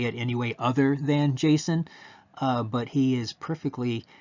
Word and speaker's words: JSON: that the name they came up with was Jason. And over the years lots of people you will hear pronounce this as JSON because of like the object uh the the O sound. So you hear JSON.